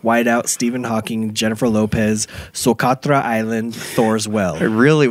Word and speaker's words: Socotra: Well, my first place is Socotra Island in Yemen.